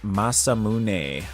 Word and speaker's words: Masamune: The masum ma masamune. Masamune, I think is how you say that.